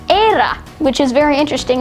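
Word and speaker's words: Éire: it's italia of course um in ireland it's era which is very interesting it's e-i-r-e which is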